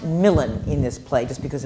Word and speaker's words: Milan: Which which is pronounced Milan in this play just because of the the scans.